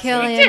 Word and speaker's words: Cillian: Cillian. I think we established this last Killian.